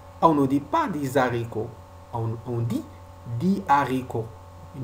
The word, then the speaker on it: haricot: On ne doit pas faire la liaison devant le H aspiré. Par exemple, dit haricot, dit haricot. On ne dit pas des haricots, on dit dit haricot.